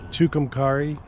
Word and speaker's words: Tucumcari: Tucumcari.